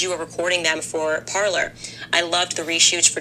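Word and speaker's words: Parler: Parlor, which is not spelled the way you think it is. So So not It's spelled P A R L E R.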